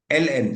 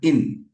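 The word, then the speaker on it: ln: ये जो लाइन है एल एन, सबसे पहले तो वो एल एन है, natural log एंड नॉट इन। काफी बार स्टूडेंट्स उसे इन करके प्रोनाउंस करते हैं, that is natural log एल एन।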